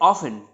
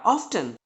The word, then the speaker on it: often: But congratulation, आप सही हैं क्योंकि इसको ऑफन और ऑफ्टन दोनों प्रोनाउंस किया जाता है अमेरिकन इंग्लिश में। तो एग्जाम्पल हमारे पास है poor people are ऑफन sick, but I recommend you इसको आप ऑफन पढ़िए, राइट। ये ऑफन ज्यादा बेटर है ऑफ्टन से, ठीक है।